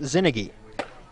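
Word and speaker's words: Czinege: Zinnigy is spelled C-Z-I-N-E-G-E, but pronounced Zinnigy.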